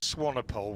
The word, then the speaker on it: Swanepoel: Interesting start there for just give me the pronunciation once again, Ben. Bayers Swanepoel. Swanepoel, we're saying, right, because it seemed back after it had passed the stumps, that one from Swanepoel.